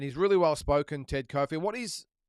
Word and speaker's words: Kofi: really well spoken, Ted Kofi. It is Kofi, isn't it? I think it's not coffee. It's Ted Kofi. I think that's the proper way to pronounce it. But I think one is that he's obviously well credentialed.